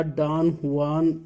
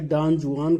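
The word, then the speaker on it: Don Juan: बातें हैं, विचार हैं और इन्हीं विचारों में एक डॉन जुआन या डॉन हुआन जैसा अलग अलग उच्चारण होता है, तो उसे डॉन जुआन कहेंगे।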